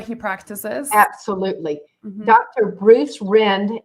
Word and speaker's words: Rind: practices absolutely Dr Bruce Rend it's it's still it's spelled r-i-n-d which is rind but it's pronounced Rend and he's in Gaithersburg